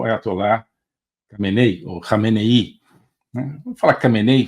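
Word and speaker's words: Khamenei: cenei ou renei né cenei fica mais fácil mas parece que a pronúncia é algo assim como renei eh eh e Eh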